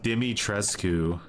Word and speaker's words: Dimitrescu: It's pronounced Dimitrescu.